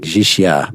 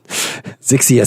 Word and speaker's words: Zixia: Zixia said, and I'm going to pronounce the X's. I know it's like Zixia, but they have all these X's, and X's is too cool a sound not to make. Zixia said, only once exemplary